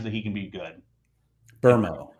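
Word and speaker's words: Mbeumo: Burmo is how you say his name. Buemo? Burmo. Bermo is how you pronounce it. There's no R. Yeah. Can't get on board with that. I was about to say it's a silent R, but it's an invisible R.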